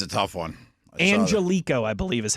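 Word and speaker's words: Angelichio: And they have it Angelico is how he pronounces his last name.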